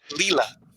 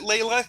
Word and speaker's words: Leela: Leela. Leela. Yeah, I knew it was an L. Oh, Leela. Leela. Is it Layla? I knew you were right. They may have pronounced it Layla because it's Britain and they do things weird,